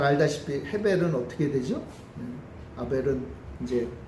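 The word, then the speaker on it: הֶבֶל: 둘째 아들은 아벨이라고 이제 우리 개역 성경에 번역이 됐는데 이 단어는요 사실은 원어로 보면 헤벨이라는 뜻, 헤벨이라고 발음이 돼요. 그러니까 카인과 헤벨인데 우리 개역 성경이 가인과 아벨로 이렇게 번역을 했죠. 헤벨, 이 헤벨이라는 단어는요 무슨 뜻인가 하면 이 호흡이라는 뜻입니다.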